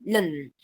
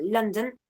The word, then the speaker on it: London: Que yo en vez de decir London, puedo decir London. Un poco sacando la schwa de ahí y no pronunciándola. Entonces, lo que hubiera sido el núcleo, que sería la schwa por ser vocal, pasa a ser la alveolar nasal que le sigue.